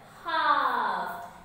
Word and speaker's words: half: late, LATE, late, HALF, half. You can notice here in this word there is a magical word. What is that? Yes, here it is L, silent word.